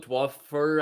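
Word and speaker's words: Dwumfour: 52, the guy in the practice squad, Michael Dwuffer, I think Dwumfauer is a player. Dwumfauer, that's how you pronounce it.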